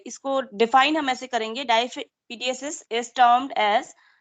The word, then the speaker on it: diapedesis: White blood cell में एक capability होती है कि वो एक प्रोसेस करता है जिसको दैट इज टर्म्ड एज डाईपीडीएसिस. ठीक है, डाईपीडीएसिस.